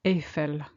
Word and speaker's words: Eiffel: the Eiffel Tower note that in French we pronounce it Ethel tour there's nothing but tower blocks in this